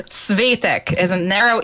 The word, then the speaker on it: Svetek: It's Svetek. It's just say it the way you did. Just stress the first syllable instead of Svetek.